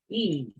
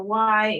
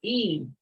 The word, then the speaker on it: y: The letter Y is pronounced E. Don't go in there and say gatos, Y, perros. Don't do it. It's E.